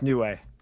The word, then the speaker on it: Niue: Pronounce. Here we go. Niue. New. It's Niue. Niue, Oh. yeah. Okay. It's Niue Island.